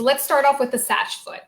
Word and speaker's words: SACH: Number 1, the Satch foot, single access foot, multi-axial, dynamic response.